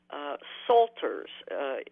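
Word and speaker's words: psalter: had acquired several medieval Salters the word is Salter and it comes from Psalm and it's spelled PSAL ter an assaulter was a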